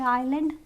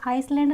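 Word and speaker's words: island: आइल, यहाँ पे आइलैंड, ये आइसलैंड नहीं होता, आइलैंड होता है।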